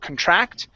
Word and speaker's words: contract: The stress is at the very beginning. Instead of contract, it's contract employees.